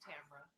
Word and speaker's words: Tamara: My name sounds like Cameron. Yeah, right. I always tell people that's how it's pronounced. Tamara, Tamara, tomorrow. Yeah, it's Tamara.